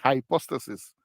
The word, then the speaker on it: hypostasis: poner la j y en inglés Ah se le pone una i pero se pronuncia High hypostasis pero en español se